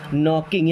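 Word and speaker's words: knocking: नॉकिंग, यहाँ पे के साइलेंट होता है, नॉकिंग, नॉक करना मतलब क्या होता है, दरवाज़ा खटखटाना।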